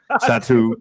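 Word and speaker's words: Satou: Phantom is Sato. That's how you say it. Satu.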